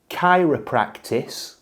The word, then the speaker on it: chiropractic: start with what is chiropractice chiropractic a chiropractor how do we even phrase that it's Chiropractic with a hard C okay um uh that's